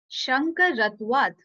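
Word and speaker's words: शङ्करत्वात्: So when you will join them together, it would be Shankar Atwad.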